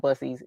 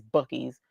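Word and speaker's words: Buc-ee's: No, it's so I've been hearing people call it busies. I know it's not busies, it's BIES, but it's spelled B U C E S.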